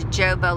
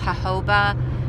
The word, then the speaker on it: jojoba: like a little bit of joga lotion it's actually pronounced jojoba on the lower part